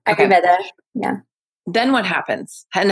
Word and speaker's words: Ayurveda: Am I saying it right? Ayurveda? Yes, Ayurveda.